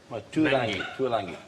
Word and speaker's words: Tuilagi: Yeah, Manu Tuilagi. Tuilangi. Well, there's no end in there. If you want to... No, it's his pronunciation of it, actually.